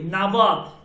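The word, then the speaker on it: نود: এরপর হচ্ছে 90 নাবদ কি নাবদ নাবদ উচ্চারণটা কি নাবদ নওয়াদ নাবাদ নাবাদ নাবাদ ও, মানে নাবাদ।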